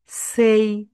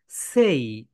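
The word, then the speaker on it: say: এখানে কিন্তু আমরা বলবো না সে, আমরা বাঙালিরা এটাকে বলি সে, কিন্তু এটা রাইট প্রোনাউন্সিয়েশন সেই, সেই, সেই।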